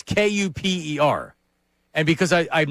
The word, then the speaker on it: Kuper: It's not spelled like Cooper, like hanging with Mr. Cooper or Cooper DeJean. It's Kuper.